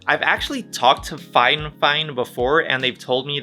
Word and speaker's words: FIFINE: fine fine instead of fife fine i've actually talked to fine fine before and they've told me that it's not actually pronounced phi fine it's it's meant to be pronounced fine fine i know it's totally